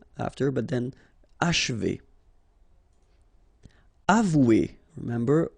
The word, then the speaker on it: achever: Achever. Okay, and then if you want to pronounce it the way French people will do, so don't insist too much on this and you will get H.